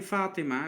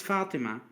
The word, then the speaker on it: Fatima: Then the name Fatima, it's a common name, Fatima, is Mm-hmm. actually Fatima Tun. Fatima, the t sound at the end.